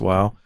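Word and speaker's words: Wau: going, which is in Wow, W-A-U, pronounced Wow.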